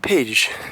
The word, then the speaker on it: Pécs: This city, for example, is spelt P-E-C-S, which us English people would just say Pecs. But apparently it is called Pécs. I think it's more like a, not page, it's more like a Pécs.